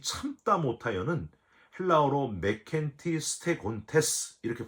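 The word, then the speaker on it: μηκέτι στέγοντες: 여러분 여기 이 참다 못하여는 헬라어로 메켄티 스테곤테스 이렇게 발음을 하는데요.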